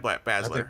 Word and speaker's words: Baszler: night you think you just nailed it Shayna Baszler that's right sir okay well we know her